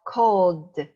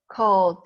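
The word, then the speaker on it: called: Then ed is pronounced d, also voiced. So we have cold. In reality, when you speak fast, you don't really say cold. You say cold. Cold, very light.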